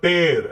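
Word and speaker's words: tear: टेयर, टेयर यानी फाड़ना, टीयर आंसू होता है, लेकिन जब इसे हम पढ़ते हैं तो टेर, ऐसे टेर पढ़ते हैं, ठीक है, टेर यानी फाड़ना।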